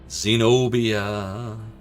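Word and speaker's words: Xenobia: Zenobia. Well, it's an X, but it's pronounced with a Z. So really, it's like it's a Z in the name.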